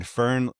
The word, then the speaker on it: Fearn: Fern, do you pronounce it like the plant?